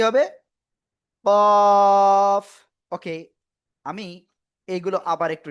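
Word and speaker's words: ق: তো তাহলে এটা আমরা কিভাবে উচ্চারণ করব? মোটা আওয়াজে উচ্চারণ করব, এবং এভাবে আমরা কোরআনে পাবো, যে কোনো জায়গায় পাবো। সবাই একসাথে আনমিউট হয়ে জোরে জোরে বলেন, কফ।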